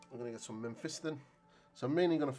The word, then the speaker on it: Mephiston: So I need some Mephiston red, not men, Mephiston apparently, as Tom pointed out.